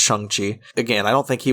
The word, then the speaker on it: Shang-Chi: He's attached to Shang-Chi, which apparently we've been saying that wrong. Apparently it's pronounced Shang-Chi.